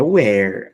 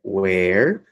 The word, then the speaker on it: where: Veja, aqui é where a pronúncia, e aqui é were. Aqui é com H, e aqui é sem o H. Então, where, were.